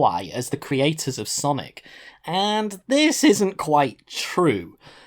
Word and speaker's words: Sonic: the host constantly pronounces Sonic's name completely wrong instead of saying Sonic he extends the sound of the letter N in the name for too long so what comes across is song Nik which translated directly into